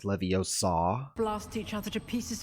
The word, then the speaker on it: Leviosa: Isn't it pronounced Leviosa?